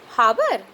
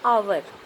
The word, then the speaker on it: hour: फिर से हम लोग यहाँ पर देखते हैं, इसी तरह एक वर्ड है HOUR, इसको क्या पढ़ते हैं? हावर? नहीं, इसको हम लोग पढ़ेंगे आवर।